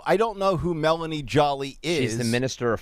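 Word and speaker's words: Joly: is spelled j-o-l-y but it's not Jolie it's not Angelina Jolie it's Melanie Jolly j-o-l-y she's The Runaway favorite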